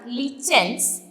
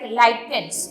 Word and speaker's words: lichens: So the extraction of litmus solution takes place from lichens. It is also pronounced like lichens. Okay, so both the pronunciation are correct.